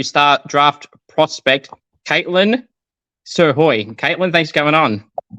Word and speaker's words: Srhoj: a waa for w star draft prospect Caitlyn sir Hoy Caitlyn thanks for going on thank for having